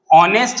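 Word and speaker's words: honest: ऑनेस्ट हम कैसे लिखते हैं? ऑनेस्ट, इसके अंदर भी एच साइलेंट है, तो ऑनेस्ट कैसे लिखेंगे?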